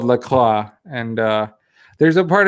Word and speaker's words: LaCroix: is in minnesota and everyone in minnesota calls the lake lacroix so i think you just call it lacroix yeah i bet i bet there was like some kind of uh french uh colonialism colonial guy you know who came in was like this is called la claw and uh there's a